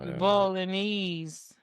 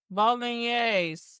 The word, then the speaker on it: bolognese: Bolognese. That's what it looked like to me, not bolognese. It's pronounced bolognese. That's crazy. Okay, it makes sense. It's like a meat. The E is like an A.